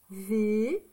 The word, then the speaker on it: vais: V. Le son E, c'est A et I. Ça fait le son E. Et avec le S. Le S, on ne l'entend pas, d'accord?